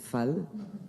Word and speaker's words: Fall: Pour information, mon nom de famille se prononce Fall et en Wolof, ça veut dire l'élu.